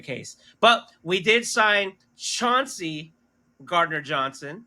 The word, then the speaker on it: Chauncey Gardner-Johnson: But we did sign Chauncey Gardner-Johnson, right?